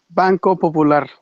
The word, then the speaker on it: Banco Popular: I mean, I said, how do you pronounce it? Banco Popular.